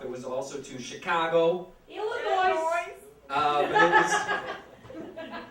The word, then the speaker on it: Illinois: Illinois. But it was Illinois. Thank you. That's correct pronunciation.